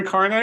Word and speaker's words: Kearney: And did I destroy Kearney or did I say it right? Oh, you got it. You got it. It's right. Kearney, okay.